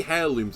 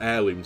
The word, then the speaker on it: heirlooms: but look how many hair looms I've got or heirlooms as you know you should pronounce it holy moly 48 crest